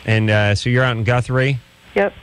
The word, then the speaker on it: Guthrie: And so you're out in Guthrie? Yep. How do you pronounce that? Guthrie.